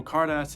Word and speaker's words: Carddass: gachapon machines are the card ass machines and yeah so let's just address this right now it is pronounced cardas it's a play on